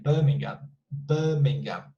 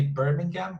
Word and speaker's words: Birmingham: they would say like birmingham because the r doesn't sound so you can say birmingham or birmingham bur mingham